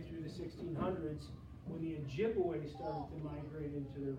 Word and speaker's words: Ojibwe: Okay, different spelling, pronounced the same though, Ojibwe.